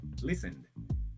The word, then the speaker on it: listened: Então, eu não vou falar listen de novo, corto o e, som do e desaparece. E agora o D vem com um som de demudo, ó. Repeat. Listen listened.